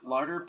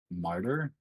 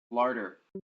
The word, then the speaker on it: larder: Well, mark larder potion ×1 on your character sheet. Martyr? Larder. And thank you for helping What? me enunciate. Larder. Lard. Okay. Oops. Accent on the la.